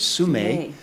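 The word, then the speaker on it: Sumeg: for everybody's interest uh the pronunciation according to the euroc people is sume the G is uh silent but really this is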